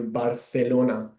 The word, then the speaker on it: Barcelona: I pronounce it uh it sounds a bit like the th in English like thunder. Um that's how that's why we pronounce here barelona.